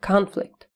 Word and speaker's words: conflict: Обратите внимание на ударение на первый слог conflict.